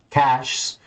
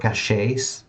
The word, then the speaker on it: caches: such as database indexing caches you know I always used to pronounce that word cachet and even some machine